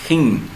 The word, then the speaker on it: ἕν: Bueno, simplemente que se pronuncia como una forma aspirada, como con la h, eh, pero no tan fuerte como gen. Por eso es que hin.